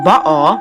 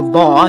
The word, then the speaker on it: Baal: Meaning number one, when you break up the word from Latin to English, it means Baal, that's how you actually pronounce it from Hebrew, or Baal is how, or Baal is how we Americans pronounce it, is the king.